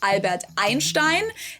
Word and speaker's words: Einstein: So EI ends on I and is therefore pronounced I.